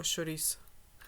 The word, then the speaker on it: chouriço: In English you would say it like chorizo or something, but in Portuguese it's more like chorizo or chouriço.